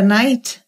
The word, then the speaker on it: night: igual night nght que significa noite a primeira night Conca Cavaleiro tem que ficar mudo no começo